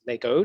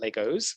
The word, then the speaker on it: LEGO: going to first say it's lego not legos there is no plural because it's a company name a lego brick you